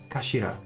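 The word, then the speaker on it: 頭: It's written as head in Japanese, but it's pronounced as kashira.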